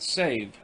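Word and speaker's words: Sèvres: by duly authorized artists the name of the town is pronounced save madame pompadour is said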